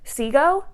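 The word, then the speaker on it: Cego: the characters I love our main character of seago is how I pronounce it c-e-g-o is how it's spelled seagull uh I love him so so much it's following this character see go who kind of comes from nothing he's fighting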